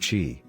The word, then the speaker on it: qi: body's energy or life force also called chi pronounced qi based on the principle that chi flows through